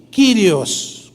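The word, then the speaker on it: κύριος: verdad es Sun y kirios curioso según es se pronuncia kirios dos palabras Sun y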